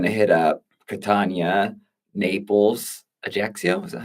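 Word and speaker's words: Ajaccio: Um going to hit up Katana, Naples, Ajaxio, is that how you say that? Ajaxio.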